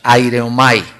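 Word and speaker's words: αἱρέομαι: se puede decir así se pronuncia con la H aire omay que se usa en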